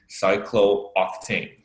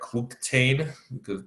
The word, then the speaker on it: cyclooctane: double O in cyclooctane normally if you will pronounce this like cook tain always like you know this chemistry so it's not English you gotta have to pronounce that cyclooctane and you must have